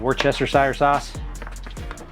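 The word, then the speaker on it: Worcestershire sauce: do is we I have a bottle of Worchester s sauce that's how you say it this is my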